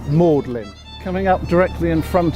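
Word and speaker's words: Magdalene: side is mlin college it's spelled like magdalin the girl's name but we say mlin coming up directly in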